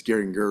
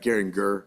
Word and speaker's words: Geringer: It's Geringer, like Ringer. It's easy because it's like you think I Derringer. did put a J in there, didn't But I? it's Geringer.